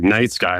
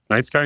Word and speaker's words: Nyte Skye: have the perfect name she was just like night sky and I was like night sky and she's like yeah but spell it with his name and then half of your name and I was like